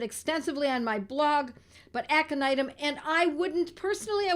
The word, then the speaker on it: aconitum: Jen you go aconitum aconitum a this these words if they're new to you they are spelled phonetically because they are Latin aconitum AC o n i t m aconitum sometimes known as aconite